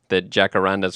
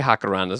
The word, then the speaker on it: jacaranda: So the enjoying the jacarandas, or we can say jacarandas. I'm okay pronouncing that J like an H on this podcast.